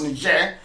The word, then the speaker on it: Niger: Niger is that correct you also have ner Republic which is French pronounced ner we know is Niger